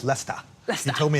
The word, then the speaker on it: Leicester: Professor Jeremy Howick heads up the Stony Gate Center for Empathic Healthcare in Leicester at the University of Leester, England. I'm told it's Lester.